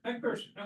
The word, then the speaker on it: McPherson: How do we pronounce it? McPherson? McPherson, okay, good. I wasn't sure.